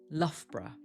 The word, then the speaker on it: Loughborough: This one is famously difficult to pronounce. Can you guess? It sounds like Loughborough, Loughborough, or Loughborough, Loughborough.